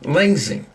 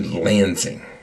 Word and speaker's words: Lansing: Our our goal is to watch Tommy graduate in Langing. Langing. Uh that is um South Langing. It is the university. Don't say it wrong. um lensing into Lansing and uh uh it's uh Michigan State University.